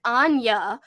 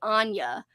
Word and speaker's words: Ania: Yeah, Amy says she says it like Anya because that's the way the audiobook pronounces it.